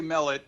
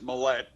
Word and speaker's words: Mellett: your last name well I say I say melet my older brother says Millette so Millett is what I usually accent the first syllable okay well I got